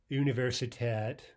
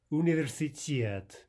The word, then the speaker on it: университет: And again, university, not universitat or universitat. We should say Universitet.